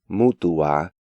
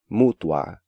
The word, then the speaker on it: mutua: Again, one of the most common mistakes is breaking up diphthongs into different syllables. Even advanced students tend to pronounce these words as continuar, mutuar, and situar, when more accurate pronunciation is continuar, mutuar, and situar.